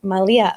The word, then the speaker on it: Manlia: And I want to make sure that people know that for yours, the N is silent. So it's Malia, right?